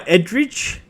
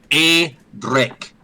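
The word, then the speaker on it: Edric: And you are Edridge. I'm A Drake. A Drake. The E is pronounced like an A, you stupid buffoon. Yeah. Sorry. I'm only reading what I was given here, Adric. E Drake.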